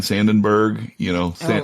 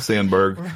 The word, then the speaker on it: Sandberg: I think of Kobe Bryant, Ryan Sandenberg, Sandberg. I pronounced it like Harry Carey.